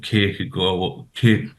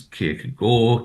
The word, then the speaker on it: Kierkegaard: And in the world of Kierkegaard, people tend to slip into the Danish pronunciation. But as I say to my students, Kierkegaard, Kierkegaard, it doesn't matter.